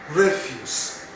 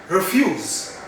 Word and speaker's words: refuse: pronounced as redfish refuse when you stress the first syllable refuse it can also be pronounced as refuse refuse which is a